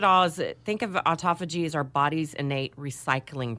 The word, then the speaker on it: autophagy: So we're going to be talking about autophagy. I'm going to spell it A-U-T-O-P-H-A-G-Y, autophagy. Autophagy. Like auto. Auto.